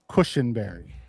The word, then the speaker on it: Cushenberry: It's pronounced Cushenberry. Either way. Like purple Cushenberry.